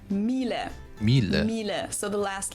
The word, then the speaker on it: Miele: wrong in English, but English native speakers usually say something like Miele. So it usually sounds more like an A in the end, whereas in German we say Miele.